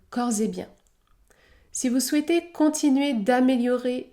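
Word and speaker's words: corps et biens: bien cors et bien dans ces deux derniers cas le S se prononce Z Z cors et bien si vous souhaitez continuer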